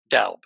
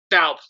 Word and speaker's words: Doub: Doub. Doub.